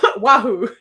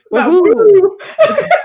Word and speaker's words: Wahoo: Also, luckily, I love you so much, but the emphasis on the wrong syllable. It's Wahoo. Wahoo.